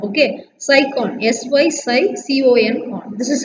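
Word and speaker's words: Sycon: Okay, cycon, S-Y-C-O-N, con. This is how you have to pronounce.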